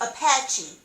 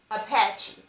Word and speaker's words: Apache: indians is apache or a psn paul a c-h-e is pronounced apache apache so i wanted to